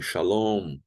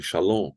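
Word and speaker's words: שָׁלוֹם: O M final, tipo em shalom, vocês não falem shalom, falem shalom, fechando bem os lábios.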